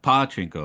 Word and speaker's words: pachinko: Um I'm also careful pronouncing that pachinko. I put I put a lot of stress on the first sound because um Chinchin is male genitalia in Japan.